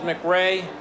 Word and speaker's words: McCrae: and send that in Tampa Bay selects Charles mcra Tackle University of Tennessee so begins 1991 for